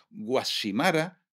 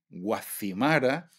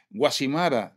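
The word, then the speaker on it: Guacimara: sí es que decís, decís dáil, decís decís tasacorte, decís guashimara. Y sí, ¿cómo tenemos que decir? Pues tenéis que decir dácil, tazacorte, guazimara. Concretamente puso ejemplos de de de pronunciaciones erróneas por un peninsular que desconoce la etimología de esas palabras. Guasimara, dáil y tasac nunca se pronunciaron con Z en Canarias.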